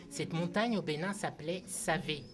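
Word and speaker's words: Savè: montagne au Bénin s'appelait SAV S a V e quand on prononce on pourrait croire que ça ça se prononce C et pour éviter d'appeler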